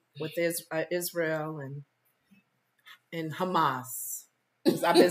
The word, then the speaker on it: Hamas: is Israel and and Hamas I've been saying it wrong I've been saying hummus like the F the food like Trump said it